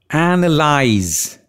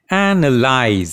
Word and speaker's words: analyze: any let's start pronunciation analyze the stress is on the first syllable and analyze the second syllable is a schwa analyze it means to